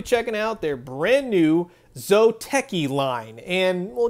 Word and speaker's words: Zōteki: out their brand new zoteki line and well just make sure you say with a long o it's got one of those macarons on top of the yo to be all fancy-like you get all the